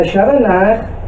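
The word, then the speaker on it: שווא נע: The Sheva Na makes a very short sound like the E in the word petition. You notice that efficient. It should be pronounced as short as possible.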